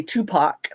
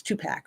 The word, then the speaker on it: Tupac: say it um cuz I used to say Tupac but it's Tupac right like two packs of cigarettes um Eminem 50 Cent